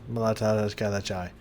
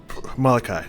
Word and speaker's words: Malachi: What is Malatai? I don't remember how to say his name. It's trying to come back to me. It's not there. Is his name here somewhere? Malachi.